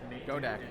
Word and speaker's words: Godec: going on man i want my last name go deck thank you you're pronounced right too i'm really proud of you